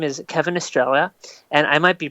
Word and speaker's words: Estrella: It's Estrella. You've got it. Oh wow, it actually is Estrella.